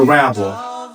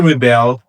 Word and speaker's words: rebel: Examples, a rebel, which is a noun. The stress is on the first syllable, versus to rebel, which is a verb, where the stress is on the second syllable.